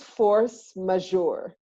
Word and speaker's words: force majeure: so tell me and I'm not even sure if I'm saying this right what is force majeure you said it right it's a French French phrase which literally means superior